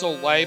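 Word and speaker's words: Soleil: the power of so pretty sure that's supposed to be pronounced soay by the way the English version of the name but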